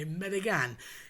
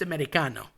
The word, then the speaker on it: Americano: These are all things that um when referring to Americans, or I'll say non-Italians, they tend to say American. It's just Americano.